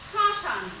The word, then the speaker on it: শ্মশান: যেমন শ্মশান, এটাকে যদি আমরা উচ্চারণ করি, অনেকে শ্মশানও বলে, তালবস্যয় ম ফলা, তালবস্যয় আকার দন্ত ন। তো এই শ্মশানের উচ্চারণটা দেখো এরকমই হয়, যে তাল অবস্যার উপরে একটা চন্দ্রবিন্দু, শ্মশান। কেমন হয়? শ্মশান, একটু নাকের বাঁশি থেকে উচ্চারিত হয়।